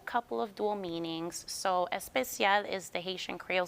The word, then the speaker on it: Espesyal: So Espesyal is the Haitian Creole spelling of the word special, but you pronounce it Espesyal like in Spanish.